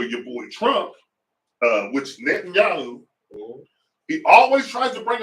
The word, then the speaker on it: Netanyahu: And I don't think it's the Jewish faith's fault that they're ran by a Zionist called Netanyahu.